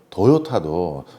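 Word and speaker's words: Toyota: 아, 도요타. 그렇지. 뭐 전 세계 1등 회사냐? 예, 옛날에. 도요타부터 얘기하고 다음 회사들 얘기해야죠. 그럼 맞아. 그러니 우리가 1년 생각하는 게 머릿속으로 도요타도 그리고 그 얘기부터 정리 한번 해줄게요.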